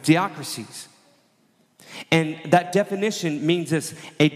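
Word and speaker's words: διάκρισις: for the word discerning, it's diakrisis. That's a Greek word, how you pronounce it, diakrisis.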